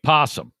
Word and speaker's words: possum: grand valley bottle baby says it's spelled o-p-o-s-s-u-m but we say possum thank you sorry